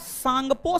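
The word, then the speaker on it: Tsangpo: Trans Himalaya को बृहद हिमालय से अलग ITSZ, फुल फॉर्म होता है इंडस सांगपो सचर जोन।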